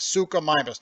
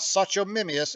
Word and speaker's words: Suchomimus: about this guy sucus that's how you say it sucus not Sato mimus it's sucus it's Greek for a crocodile mimic has a kind of